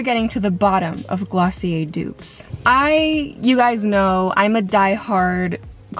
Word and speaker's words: Glossier: I know you guys are always saying that Glossier, why did I say it like that? Glossier.